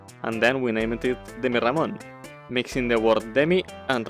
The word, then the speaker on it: Demirramon: It needs 2 R's to keep the pronunciation of Ramon, or else it would be Demirramon instead of Demirramon.